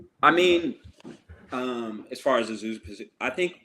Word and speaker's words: Azusa: And yeah, you started your college career at Montana State before becoming a star at D2 Azusa Pacific. Did I pronounce that correctly?